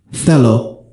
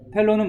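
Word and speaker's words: θέλω: 이런 뜻으로 사용이 됩니다 셀로 영 발음이 거슬리는데 이게 셀로라 그러면 안 되고 로라고 하시는게 더 낫습니다 텔로는 뭐냐면은 원한다 이것도 역시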